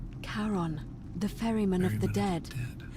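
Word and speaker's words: Charon: Karon.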